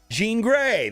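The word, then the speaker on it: Jean Grey: then you're guaranteed to get J green J Jean Gray that's how you say it and then also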